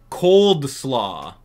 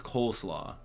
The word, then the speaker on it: coleslaw: Dude, no one calls it cold slaw. Unless people do. I mean, what do you guys pronounce? You guys pronounce it cold slaw? No one does. Don't even... If you say yes, you did pronounce that, you're just messing with me. It's coleslaw.